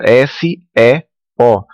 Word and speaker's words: SEO: sobre isso aquela sigla s e o que em inglês como ela vem do inglês a gente pronuncia seo tá que significa se